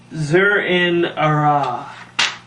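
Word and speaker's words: Zur-En-Arrh: I just need to find the exact name because I need to pronounce it right. The Batman of Zur-En-Arah, I believe it is.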